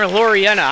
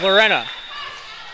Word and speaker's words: Lorena: killed a few people I keep calling her lurena I'm adding syllables to her name it's Lorena and I need to